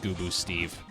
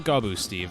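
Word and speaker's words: Gooboo Steve: There's a character in this game named Goo Boo Steve. Hello there. Not Gaboo Steve, no. Gaboo, Gooboo.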